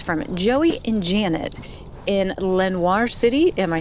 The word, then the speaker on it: Lenoir City: This story is from Joey and Janet in Lenoir City. Am I saying that right? Lenoir City, Tennessee. Looks like Lenoir. Lenoir? Lenoir. Lenoir. I'm saying and pronouncing it the French way.